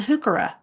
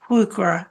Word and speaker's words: Heuchera: for holly hawks, helenium, and hooka or hukura. There's another way to pronounce it true, but I say hooka.